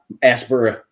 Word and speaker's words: Asheboro: went up we did a day-date up in Asheboro and it's Aspera that's how it's pronounced here um and it happens twofold because